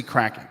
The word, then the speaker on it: Kraken: uh let me see kraton not crate Kraken and it's actually cracking right so I did get that wrong uh I kind of said it wrong on purpose in the first video just to get more uh hits but actually it is cracking like they're cracking from what is that uh